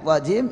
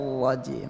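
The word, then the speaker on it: الرجيم: Nir rajim itu salah, karena itu namanya hasramatur ra'at kalau kata Imam Al-Jazari, itu artinya membenturkan, memutus ra', jadi mengalir ya, sifat bainiyah namanya syaitonir rajim.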